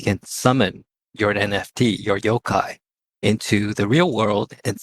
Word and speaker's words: Yokai: Yokai? Yep, Yokai. It's pronounced it correctly.